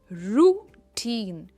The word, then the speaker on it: routine: उसके बाद है रूटीन. रूटीन, टीम पर इसका स्ट्रेस है.